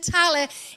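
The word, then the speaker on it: Tallaght: church in our hometown of tala that's how you pronounce it tally in dublin and you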